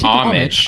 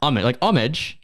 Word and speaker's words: homage: British pronunciation so so what's the American pronunciation homage homage all right homage I'm not we're not in England guys we're in America I think I think England is isage omage well that's I think I